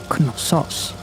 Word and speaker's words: Knossos: To gain a better understanding of their Bronze Age civilization, we have come here to the Palace of Knossos. If I may, Vincent, it's Knossos.